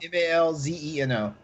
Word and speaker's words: Malzeno: Malzeno. Yeah, MAL. Malzeno. Just think like Grand Zeno from.